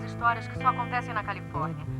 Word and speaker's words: Califórnia: é como um péssimo aparentemente estávamos enganados a pronúncia é Califórnia senhoras e senhores o governador do Estado da